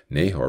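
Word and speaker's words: Nahor: the invitation of God Nahar refused to leave haran his name means snorer in the Hebrew it's even pronounced like a snore he was too lazy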